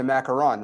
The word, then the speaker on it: macaron: or is that now would you call that a macaron or a macaroon you said it right it's a macaron right yes because macaroons are the other things with those are the